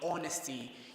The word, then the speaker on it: honesty: For example, my name, honesty, you don't say honesty. The H in that word is silent.